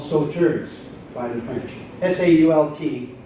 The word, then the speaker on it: Sault: S-A-U-L-T, which they would have pronounced Sault, means rapids or falls.